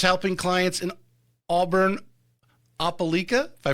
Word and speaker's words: Opelika: Whether it's helping clients in Auburn, Opelika, if I pronounced that correctly, Opelika, yes.